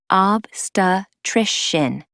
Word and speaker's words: obstetrician: of broccoli pronunciation pointer obstetrician can be a tricky word to say that explains why so many people just say OB but it's really not that hard it sounds like obstetrician go on say it